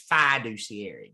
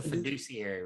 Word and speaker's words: fiduciary: from Eastern North Carolina, we always emphasize the first syllable of every word. So if you're from Eastern North Carolina, this is fiduciary. That's a fiduciary relationship.